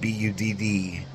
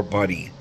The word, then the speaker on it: Budd: Bud, B-U-D-D. It can be pronounced Bud or Buddy.